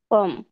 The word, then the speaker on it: comme: historique, como, নো, parler, কমো, কমো এখানে যদি ENT থাকতো তাইলে উচ্চারণ oh, হতো কমো। এটা হচ্ছে কম। comme, হুম।